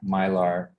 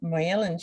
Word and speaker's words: myelin: myelin sheet, Myelin. Mylar, I think it's my. No, it's not AR. It's Myelin. Okay.